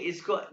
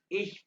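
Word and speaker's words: ich: सुनो मैंने क्या कहा इ बिना इ ये इसमें शीन और ख की आवाज है इ बिना इ ये शीन और ख मिक्स है लेकिन आपको ये कहने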